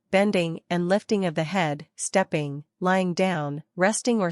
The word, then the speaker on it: He: The 6 sounds are Su, pronounced like shu with a deep sigh, which is associated with the liver, he, pronounced like her with a yawn, which is associated with